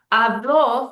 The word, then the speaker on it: habló: So hablo means I speak in the present tense, the yo form. Habló means he spoke in the preterite tense, past tense.